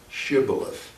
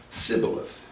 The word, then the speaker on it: Shibboleth: the tribe of ephraim could not pronounce the H Shibboleth and it came out syphilis I was in the